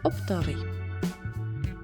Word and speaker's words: оптовий: разом правильний варіант разом оптовий чи оптовий правильний наголос оптовий випадок чи випадок